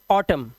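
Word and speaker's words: autumn: जैसे यहां पर एम के बाद एन आया तो इसे पढ़ते हैं डैम N silent हाईम एनसाइलेंट column N silent और ऑटम साइलेंट क्या है हमारा एन यहां पर साइलेंट है डैम मतलब लानत है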